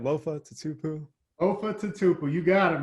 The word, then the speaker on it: Lofa Tatupu: seahawks lofa to tupu i wait did i pronounce that right lofa to tupu of tupa you got it man you're probably